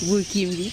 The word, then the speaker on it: Burkin'By: Alors, le jeune groupe dynamique, talentueux, Burkimbi. Bonjour. Oui, bonjour. Bonjour Fabiola. J'espère que j'ai bien prononcé.